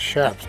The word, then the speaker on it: chaps: It's chaps, not chaps. Chaps. Chaps are British dudes.